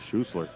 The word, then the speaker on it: Schussler: That is right. It is Schussler. He had that phonetically spelled, and look at that.